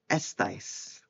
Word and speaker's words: estáis: For the estar, estáis. Vale? Estáis. And again, accent's always on the A for all of these, except for the one in estamos.